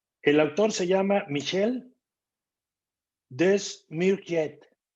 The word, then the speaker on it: Desmourget: El autor se llama Michel Desmourget. Lo voy a pronunciar como se escribe. Desmourget. Con G y al final T.